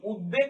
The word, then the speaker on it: উদ্বেগ: এর মতই হচ্ছে অর্থাৎ এখানে ব ফলার উচ্চারণটা ব এর মত হয় প্রথম নিয়মে দেখেছিলাম ব